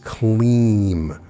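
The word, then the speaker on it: klim: bija mantra of significance is clean pronounced k-l-e-e-m spelled k-l-i-m when chanting you drag out the middle part like we did with shreem clean the key benefits of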